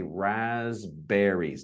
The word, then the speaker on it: raspberries: We say raspberries. No P is mentioned. We're looking at silent vowels, letters. P is silent here.